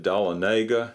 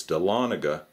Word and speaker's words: Dahlonega: made in Georgia and I think I mispronounced Ryan's town in an earlier video I said dalla Naga and someone corrected me and said it's Dahlonega but to be honest